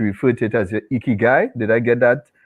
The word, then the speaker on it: ikigai: I remember in a session, Create Your Narrative with Simone, she referred to it as your ikigai. Did I get that pronunciation correct?